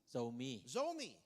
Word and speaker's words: Zomi: I think the same, how do you say Zumi? Zomi.